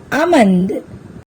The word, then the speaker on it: almond: seen in these words here also L remains silent calf chalk fork almond in these words L